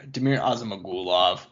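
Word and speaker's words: Damir Ismagulov: i'll i'll pick up the mantle for you damir osama gulov i appreciate it um 20 in one who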